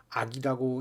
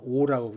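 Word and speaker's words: 惡: 신분이 낮은 것은 이것은 이 두 가지는 인지소오 이것은 미워할 오자죠. 악이라고 읽을 때도 있지만은 이때는 동사로 쓸 적에는 오라고 읽습니다.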